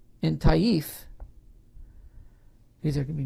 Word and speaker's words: Taif: mecca and medina the banu to keith in taif because there can be names i'll spell it for the transcribers the b-a-n-u first word second word t-h-a-q-i-f in tahith t-a-i-f were also followers that did not participate